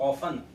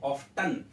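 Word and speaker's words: often: हैं आप पीपल अफिन कुछ लोग इसको ऑफ तन ऑफ तन नहीं कहेंगे इसमें साइलेंट हैं और फैन कहा जाता है इसको ऑफ प्लस और का सकते हैं इसमें जो टी और ए है वो साइलेंट है सीधा ओ एफ एन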